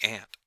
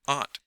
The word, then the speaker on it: Aunt: about it's called the ant for a moment Noble was confused he followed his young friend's discourse but hazily and Herbert pronounced the word Aunt precisely as he pronounced